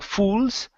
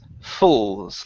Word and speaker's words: handfuls: So this is an owl sound, and instead of saying fools, it's fulls, like people. Okay, handfuls.